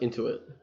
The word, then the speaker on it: Intuit: I think it's pronounced Intuit, not Inuit.